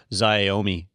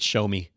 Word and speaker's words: Xiaomi: here asking god no it's actually pronounced zyau me is Iommi terza know it show me show me that's show me so there's a trend